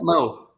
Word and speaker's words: Meaux: Mo. Yeah. MEAUX, right? MEAUX, but it's pronounced Mo. I call him Mo.